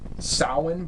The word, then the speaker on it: Samhain: it's pronounced Samhain, but the way that they do it in this, they shrunk it down to just Sam. Yep. Which I know a lot of people in America pronounce it Samhain.